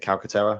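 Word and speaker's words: Calcaterra: had on the roster was Grant is it calcatera is that you pronounce it yes um I mean I don't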